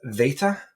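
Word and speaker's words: βήτα: So it's veta. Oh like with a v.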